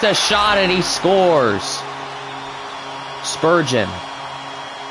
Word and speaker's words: Spurgeon: me he has a shot and he scores Spurgeon not how I would have pronounced it but Spurgeon what about this guy Nicholas Day or duh